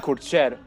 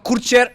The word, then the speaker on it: Kurcer: The way you said it, actually, the last time, you said Kurcer. And that is the correct pronunciation Kurcer.